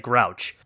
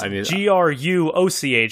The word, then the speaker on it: Gruoch: It looks like, when I first saw it, I thought it said Grouch. Let me say it again. But it's Gruoch.